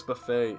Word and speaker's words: buffet: that weren't spelled phonetically although i guess buffet is pretty phonetically it just has a silent t there are other words rendezvous because